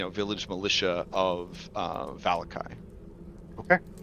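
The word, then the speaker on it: Vallaki: a chat now you may have heard it volacki but the person that read the cursive strad book to me three times uh pronounced it valakai and I liked that more and since of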